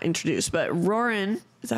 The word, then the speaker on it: Roran: So we get introduced, or maybe not introduced, but Roran. Is that how you say his name? Roran?